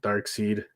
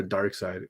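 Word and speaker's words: Darkseid: and dark dark seed who pronounces it dark seed or there's a dark side i'm a dark seed i'm not gonna i know a lot of people say dark side i say dark side just because dark seed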